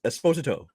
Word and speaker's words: Esposito: The last name everybody's been saying Esposito. Apparently, Yeah, according to him, is Esposito. Like if you watch Esposito. like interviews with him, he pronounces his name as Esposito.